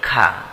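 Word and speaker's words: خ: আইন আইন লাম খ অনেকে খ টা উচ্চারণ করে খা খা যেন না হয় এটা হলো খ তা সিন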